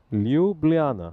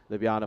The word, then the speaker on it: Ljubljana: Ljubljana. There you go. There you go. That's how you pronounce the Slovenian capital. I think so. I hope so.